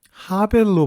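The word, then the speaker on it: הֶבֶל: 이 헛되다를 나타내는 단어가 히브리어 헤벨이라고 하는 단어인데요. 근데 이것이 또 전도서에서는 발음이 약간 변형돼 가지고 하벨로 발음이 됩니다.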